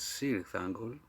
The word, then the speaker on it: Cirith Ungol: Who knows which one is the right pronunciation? Maybe the second one, but I know that the band pronounced themselves as Cirith Ungol, as I have in some old live tapes from the 80s.